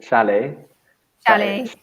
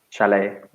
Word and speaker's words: chalet: I'm lazy I say chalet le but you're right it should have the stress on the second syllable because it's a French word that's a bit different chalet so there are kind